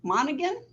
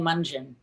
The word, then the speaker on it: Monaghan: Okay, Monaghan. How do you say that? I'm sorry. It's okay, no problem. It's Mungin. Mungin. Rhymes with dungeon.